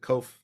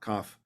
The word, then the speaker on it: kof: are really influential so they called it kof not koff so it's kof k